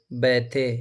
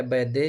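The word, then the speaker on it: Bethe: इस सिद्धांत के अनुसार, वैज्ञानिक का नाम थोड़ा सा याद रखेंगे, एच बैथे या बैदे या बैथे जो भी पढ़ सकते हैं, BATHE स्पेलिंग है, एच बैथे नामक वैज्ञानिक ने प्रस्तुत किया था।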